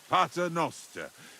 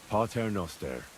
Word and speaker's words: Pater noster: You're saying it wrong. Listen. It goes like this. Pater noster. Quies in celis, sanctificator nomen tuum.